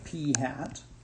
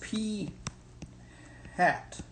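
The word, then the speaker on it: p̂: will denote this by P hat okay so just remind you that it's pronounced P hat now not phat with a pH but P hat and that will be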